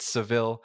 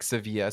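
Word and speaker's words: Sevilla: for for the listeners us Anglo speakers have called it sevil uh but the right way to say it according to the Spanish is more like seevilla so I just want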